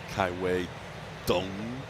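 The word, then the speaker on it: Kai-Wei Teng: Reverting back to the original pronunciation we had on him, but it is, as we learned last start, Kai-Wei Dung.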